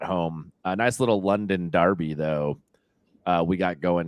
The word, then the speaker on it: derby: I still like saying I like saying Derby even though it's spelled with an E yeah uh I like